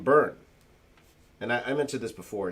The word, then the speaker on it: Byrne: john byrne uh and you pronounce his name burn and i mentioned this before here but i you pronounce it burn but for the longest time i was calling him brian john bryan though it's